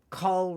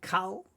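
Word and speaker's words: כל: Now, why is this cole rather than cull? It's just a basic grammar rule that that is in Hebrew where when it's a first syllable with a closed syllable where there's no vowel after the letter there, we can just say co meaning all.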